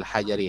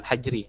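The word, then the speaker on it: حجر: Ya, awil hajari. Hajar ini ya, bukan hajri, tapi hajar artinya batu.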